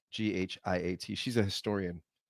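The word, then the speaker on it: Ben-Ghiat: I think Ben Giat is how you say it. Ghiat.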